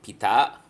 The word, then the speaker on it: Pita: And Pita, okay, that's how pala you pronounce it, not Pita.